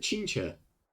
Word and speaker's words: Qingque: She pronounces it Qingque. We're almost at the Matrix of Prescience core. The Master Diviner should be waiting. Qingque.